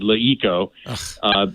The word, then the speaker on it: LeEco: This company, Leeco. Leeco. Yeah. Leeco. Yeah. They pronounce it Leeco.